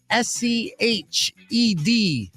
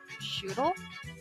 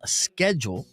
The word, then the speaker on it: schedule: SCHEDULE. Shuttle? Shuttle. SCHEDULE. Schedule. No. Well, in the U.S., it's pronounced schedule, all right, or schedule. Schedule in the UK.